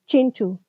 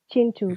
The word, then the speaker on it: Kintu: Chintu, Chintu, Hmm. but it's spelled Kintu.